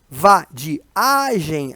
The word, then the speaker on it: vadiagem: Vadiagem, aqui, ó, o A, né, deveria separar do I, em um hiato, na hora da pronúncia, ó.